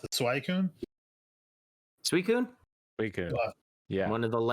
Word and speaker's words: Suicune: Always at our time was I think you pronounce it Suicune.